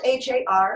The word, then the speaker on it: har: be using this mantra it's spelled har har but we again we don't go hard in the back it's not higher like car we actually use the time against the roof of the mouth and it sounds a